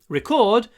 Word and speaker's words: record: And it was recorded, ударение на втором слоге, recorded, it was a record. Существительное, ударение на первом слоге.